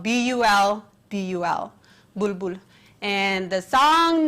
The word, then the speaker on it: Bulbul: That is spelled B-U-L-B-U-L, Bulbul.